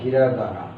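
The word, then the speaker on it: ひらがな: বা হীরা কানা বা হীরাগানা তো মূলত কানাটা উচ্চারণ হীরার পরে থাকার কারণে এটা হীরাগানা হয়ে যায় এজন্য আমরা হীরাগানা বলি আরেকটা হচ্ছে কাতারকানা কাতা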